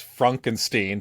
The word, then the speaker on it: Frankenstein: So Frederick introduces himself as Fronken-steen, to which Igor responds, and he looks so disgusted, just disgusted.